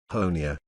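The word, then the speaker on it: Honea: third year as Sheriff honia rhymes with Tony has become something of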